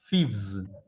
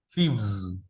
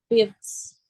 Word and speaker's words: thieves: Entonces al agregarle la B y la ES, ese es un sonido que las cuerdas vocales vibran. Entonces voy a decir two thieves. Vz, thieves. Dilo. Fifths.